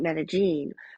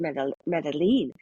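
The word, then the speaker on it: Medellín: from here we went to Medellin, and so the first thing I learned about Medellin was how to say it properly. I always said Medellin, but it's Medellin, and this is where, if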